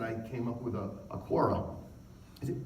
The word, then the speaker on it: Quora: And I came up with a Quora. Is it Quora? Quora? How do you say that word? Is it Quora? Okay. Somebody corrected me once and said, no, it's not Quora, it's Quora.